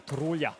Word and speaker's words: Tarulia: Of Selena That's Tarulia. going to be a and- cracker. well, actually, the way you properly pronounce her name is Selena Tarulia. Tarulia. All right. Tarulia, a lot of tongue roll.